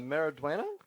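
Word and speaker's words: Maridueña: Mariduena?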